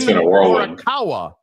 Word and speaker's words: Morikawa: It's the 3rd time you've mispronounced Jesus his name. Christ. It's not that hard, dude. Colin Morikawa.